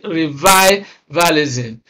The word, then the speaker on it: revivalism: Revivalism. You can see that re is a prefix. Immediately after the prefix, the next syllable is stressed. The same thing applies here. Immediately after the prefix, the next syllable is also stressed.